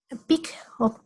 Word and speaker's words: PEAC: PIC se escribe PEAC, PIC, PIC.